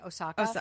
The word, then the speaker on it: Osaka: How do you pronounce her last name again? Osaka? Naomi Osaka, yeah.